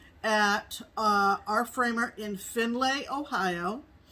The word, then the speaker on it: Findlay: uh our framer in finlay ohio well i'm saying it phonetically findlay because it's f-i-n-d-l-a-y in delay which is